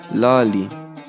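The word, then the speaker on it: ⲗⲁⲗⲓ: Et puis enfin, nous avons la lettre Iota qui se prononce comme la lettre I en français. Le mot devant nous est le mot Lali.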